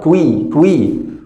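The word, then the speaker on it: quick: اليو اي بتنطق وي وي، كيو يو اي كوي كوي، والسي كي قلنا دي كي ودي كي، فهم كلهم بياخدوا صوت الكي تبقى كويك كويك كويك، كوارتر كويك.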